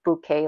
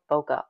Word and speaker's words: bokeh: I love doing the I know I'm supposed to say bouquet lights but I always say B and I just love boka B B boka I'm sorry if I'm saying it wrong you get used to